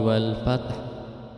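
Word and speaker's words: وَالْفَتْحُ: membacanya idza jaa nasrullahi wal fath. Fat, padahal itu di situ ada hak dan harus diperlihatkan. Nah, itu membacanya hak itu harus disukunkan. Wal fath, jadi ada suara hak matinya, wal fath.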